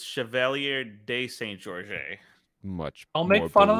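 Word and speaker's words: Chevalier de Saint-Georges: story so I've heard the story of um Chevalier Shane Georges who is pretty larger than life kind of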